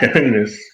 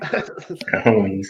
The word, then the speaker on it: cojones: Cojones. Hey, now I understand that. It's pronounced cajones, not cajones or whatever you said.